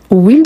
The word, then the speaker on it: huile: Donc, huile d'olive commence par un H, mais c'est un H muet.